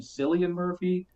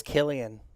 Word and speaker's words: Cillian: Is it Cillian Murphy? How do you pronounce it? I think it's Killian.